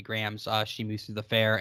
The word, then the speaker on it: Graham: Davy is spelled D-A-V-Y, no E there, and Graham, Graham.